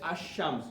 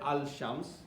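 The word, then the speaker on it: الشمس: Like we can say ash-shams, we don't say al-shams, okay, but when it comes to qamar, we say al-qamar, okay.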